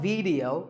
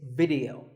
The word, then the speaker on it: video: watching right now video the important thing is that both the I and the E are pronounced as short if sounds it's not video it's video if you watch a